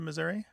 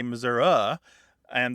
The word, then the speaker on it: Missouri: where did you live when you moved to Missouri the Kansas City area Okay so that part